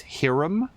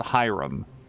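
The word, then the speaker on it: Hiram: VOD later in life has anybody ever heard the name h i r a m pronounced as herum cuz I've I feel like I've always and ever heard it called Hyrum yeah still can't get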